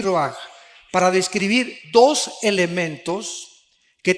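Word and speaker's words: רוח: rach con r de raul a H se pronuncia ro por ejemplo cuando hablamos del Espíritu Santo El Espíritu Santo es ro el kados el Espíritu Santo kabos es Santo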